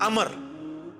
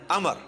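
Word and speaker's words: عمرو: लफ्ज ही नहीं है लफ्ज है अमर लिखा होता है उमरू लेकिन उसका मतलब वाओ जो है वो साइलेंट होता है और वाव का मतलब यह है कि आपने इसे पेश की बजाय जबर से पढ़ना है उमर की बजाय पढ़ना है अमर तो हजरत अमर बिन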